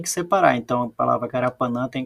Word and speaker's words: Carapanã: Então, a palavra Carapanã tem 4 sílabas aqui, Carapanã. Dessas 4 sílabas, a mais forte, a sílaba tônica, é o nã.